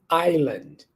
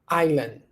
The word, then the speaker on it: island: right right okay what about that can you pronounce one two three island island island repeat the example after me we visited a